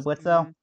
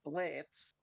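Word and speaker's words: Blitzø: You going into the Blitzo? His name is Blitz. Yeah, always cited. That's on his back quote. His name is Blitz. The O is silent.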